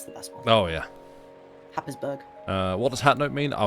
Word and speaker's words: Happisburgh: Haysborough. That's the best one. Oh, yeah. Happisburgh.